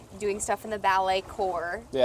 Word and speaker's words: corps: You know, you start doing stuff in the ballet core. Yeah. Which is like it's spelled like corpse. Yeah. The core to ballet. So that's like the group like the military corps.